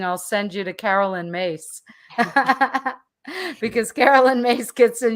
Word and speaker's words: Myss: good she's greek uh so mace is prone is spelled myss and at one point